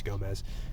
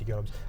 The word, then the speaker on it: Gomes: And by the way, that is the correct way to pronounce it is not Denise Gomez. It is Denise Gomes.